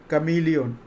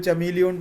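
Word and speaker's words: chameleon: तो समझ लेना ये कैमिलियन। कैमिलियन कैमिलियन कैमिलियन, कुछ लोग चमीलियन पढ़ता है इसलिए मैं बार बार उसको उच्चारण कर रहा हूँ। हाँ, कैमिलियन इसका ओरिजिनल प्रोनाउंसिएशन है कैमिलियन।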